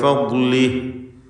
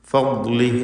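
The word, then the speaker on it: فضله: ഫദ്ലിഹി എന്ന് പറയുമ്പോൾ ദ്വാദ് ഇസ്തിഅലാഇൻ്റെ 7 അക്ഷരങ്ങളിൽ ഒന്നാണ്. അത് പ്രത്യേകം ഇസ്തിത്താല എന്ന സിഫത്ത് ഉള്ള അക്ഷരവുമാണ്. നാവിൻ്റെ സൈഡിൽ നിന്നാണ് ഇതിൻ്റെ ഉച്ചാരണം വരുന്നത്. നീളത്തിൽ, അണപ്പല്ലിനോട് ചേർത്ത് നീളത്തിലാണ് അതിൻ്റെ സൈഡിൽ മൊത്തം ഭാഗം ഉപയോഗിച്ചുകൊണ്ടാണ് ദ്വാദ് ഉച്ചരിക്കേണ്ടത് എന്നർത്ഥം. ഏതായിരുന്നാലും തടിപ്പിച്ച് തഫ്ഖീം ചെയ്ത് ഉച്ചരിക്കേണ്ട അക്ഷരമാണ്. ഫദ്ലി, ഫദ്ലി എന്ന് ശ്രദ്ധിച്ചുകൊണ്ട് വ്യക്തമാക്കി ഓതുക.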